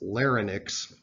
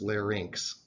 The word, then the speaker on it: larynx: this Y in X is pronounced like the English word inks okay so a lot of people who grew up learning American you know American English phonics want to pronounce this Larry Nix but that is not